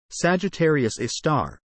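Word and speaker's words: Sagittarius A*: Sagittarius A, pronounced Sagittarius A star, and abbreviated as SGRA asterisk,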